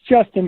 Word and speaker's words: JSTN: It's Justin, but it is spelled JSTN.